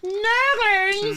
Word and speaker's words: Nurglings: Nurglings!